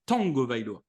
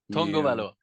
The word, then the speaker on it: Tagovailoa: Alors, d'ailleurs, théoriquement, on devrait prononcer Tagovailoa. Tagovailoa.